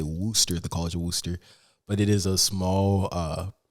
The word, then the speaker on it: Wooster: So it's pronounced Worcester, but it's spelled Wooster, pronounced like Worcestershire sauce.